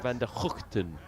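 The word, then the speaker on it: van der Gugten: And they were telling me the correct way to pronounce Tim's name is Tim van der Houten.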